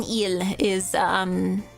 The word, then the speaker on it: île: The S in île is silent.